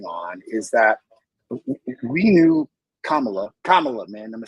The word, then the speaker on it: Kamala: about what's going on, is that we knew Kamala, man, am I saying it right?